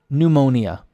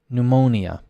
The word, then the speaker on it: pneumonia: a lot of countries silent pneumonia pneumonia the stress on the o pneumonia I imagine if